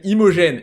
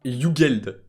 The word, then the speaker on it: Imogen: Premièrement de 1, il s'appelle Imogen et pas Yugeld.